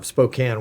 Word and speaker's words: Spokane: you know the difference between Australia and and Spokane Washington um how do you pronounce Spokane yeah Spokane okay uh Spokan Spokan